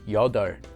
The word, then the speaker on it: 여덟: A very common exception to this rule is the word for 8, which is pronounced the opposite way as 여덟.